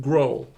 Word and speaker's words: Grohl: How do you pronounce his name? Grohl.